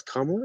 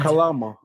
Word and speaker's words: Kamala: Why did you vote for Kalama? I swear to God, you say her name wrong one more time. Kalama. Her name, you know Kamala.